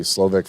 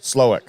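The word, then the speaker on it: Slowik: slovic for head coach slowick maybe it's SL I think with a V Oh I thought it was SL well maybe the W is pronounced as a v cuz you know East block uh But like after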